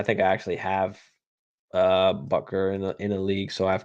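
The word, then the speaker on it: Butker: he's on the Chiefs or bucker bucker is how you say it my bad uh but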